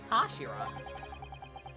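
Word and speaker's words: 頭: it's written his head in japanese but it's pronounced as kashira i believe kashira so mr sogies really mean twist the butt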